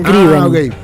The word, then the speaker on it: Scriven: Scriven. Gail escribe. Sí, igual. Escriben, se escribe. En serio, porque si no... Escriben, se escribe con S-C-R-I corta E-N. Scriven. No es escriben, yo pronuncio escriben.